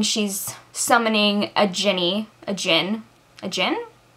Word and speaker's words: Djinn: summoning a Jinni a Djinn a Djinn I've heard it pronounced both ways we're gonna go with Djinn so she's calling someone